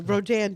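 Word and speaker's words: Rodin: Well, Rodan did that piece back in the 1880s, a French artist, and uh I took my mom to a Rodan show.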